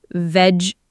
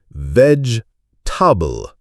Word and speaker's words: vegetable: So it's not vegetable, it's veg-ta-ball? Almost there, Minu. It's more like veg-table. Try saying it, focusing on that short t sound.